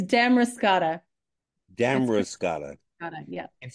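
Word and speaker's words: Damariscotta: Kate aldrid and I'm going to start with Demaris Scot main am I pronouncing it correctly well already I have to correct you go ahead it's Dam roscata dam roscata yeah it sounds like a fruit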